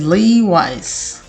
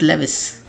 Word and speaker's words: Levi's: Next word की तरफ देखिए, that is Levi's, Levi's. Not Levis, it's Levi's, Levi's.